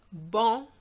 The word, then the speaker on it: banc: Now words ending with a C, silent, banc, which is a bench, blanc, tabac.